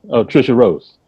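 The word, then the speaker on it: Tricia Rose: tracia is that how you say her name trisha rose trisha rhodes yeah and um that's the first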